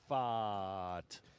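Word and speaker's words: Pfaadt: the Cardinals against the Arizona postseason hero Brandon Pfaat. What was that again? Brandon Pfaat. How do you spell that?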